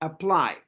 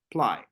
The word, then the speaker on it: apply: apply a apply apply apply where is the stress on the first syllable a or on the second syllable apply what do you think the second the second very good well done apply so I want you